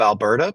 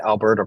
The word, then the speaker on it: Alberta: that you don't really Alberta Province it sounds kind of weird we you pronounce it with a d then a t it's Alberta not Alberta